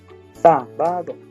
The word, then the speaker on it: sábado: El acento sábado es una palabra esdrújula, ¿verdad? Las palabras esdrújulas son aquellas que terminan con más fuerte en la sílaba antepenúltima, ¿verdad? La antepenúltima viene siendo esta. So, sábado lleva acento en la primera A, sábado.